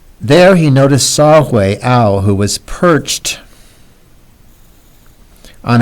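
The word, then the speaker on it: Saw-whet: There he noticed Saw-Hui. This is pronounced way, like that. So that would be the pronunciation for W-H-E-T is way. The T is silent. There he noticed Saw-Hui Owl, who was perched on a twig.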